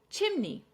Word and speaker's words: chimney: Chimney. Stress on the first syllable.